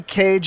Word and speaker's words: Kej: right way uh so the right way is how you would say how we pronounce a bird cage c a g just like how you would say Nicholas Cage okay good deal uh